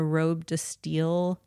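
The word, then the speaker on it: robe de style: It's called a a robe to steel silhouette. It's from I don't know. Michael might. uh r obe e d e steel is spelled like style.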